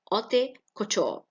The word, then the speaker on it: haute couture: The business of making fashionable, expensive clothes for women is haute couture. H here is silent.